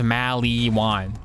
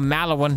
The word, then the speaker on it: Maliwan: enough get to maliwan he says maliwan that's the pronunciation in borderlands one everyone in borderlands one says maliwan and then in freaking borderlands three they changed the malibu one it's now called mallow one no it's not it was called mali one in one i'm sticking with the og pronunciation borderlands 2 soundtrack is